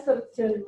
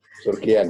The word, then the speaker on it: Surgean: Sebenarnya bacanya surgeon, Bro. Tapi dulu waktu saya kecil itu saya malu dipanggil surgeon karena saya tidak tahu artinya. Surgian. Akhirnya dibaca surgian.